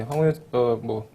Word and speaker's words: 황우여: 황우여 대표 출범을 봤는데 황우여 간단하게 황우리어라고 하다가 왜 황우여로 바꿨어요? 아, 이름이 우려스럽잖아요. 우려스러워서. 예. 예. 한자 발음 그대로 하면 우려가 맞죠.